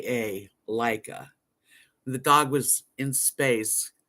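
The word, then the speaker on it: Laika: Maya got it Leica no it was L it's spelled l a i k a Leica the dog was in space he was Ace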